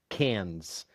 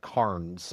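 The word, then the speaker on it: Cairns: And the Aussies pronounce it Cans. Even though it looks like Carns.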